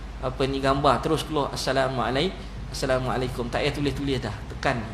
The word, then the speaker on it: Assalamualaikum: Nak pahala kena ikut lafazkan dengan lafaz yang betul. Assalamualaikum, assalamualaikum, kum, kaf mim je. Ejaan Melayu memanglah kaf waw, kaf KAKUM. Tu KUM, U tu bukannya mat. U tu dipanggil baris depan.